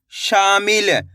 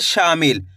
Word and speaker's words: शामिल: देखिए किस तरीके से, शा माँ की मात्रा शा, माँ में छोटी ई की मात्रा मी, ल, तो मिलके बन जाएगा शामिल। कैसे पढ़ेंगे? शामिल।